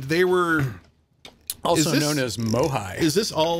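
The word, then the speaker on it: MOHAI: they're having this yeah migh that's what we all call it migh um it's because it's spelled Mo AI migh migh it's a lot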